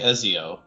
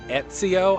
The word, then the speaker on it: Ezio: I also pronounce it Ezio. I pronounce an invisible like a T. I don't know why. Okay. I don't think there's a T. I think that's how they pronounce it in the game.